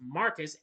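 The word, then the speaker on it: Marquess: portion is of his name is pronounced Marcus and rendered as if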